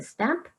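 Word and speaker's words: Stannp: website called stamp it's although it's spelled with a letter n it's actually pronounced a stamp and it's where your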